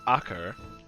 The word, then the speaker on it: Acre: I had never knew that city was pronounced Acre.